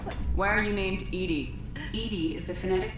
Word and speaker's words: EDI: is a jar why are you named edie edie is the phonetic pronunciation of bdi that is an acronym for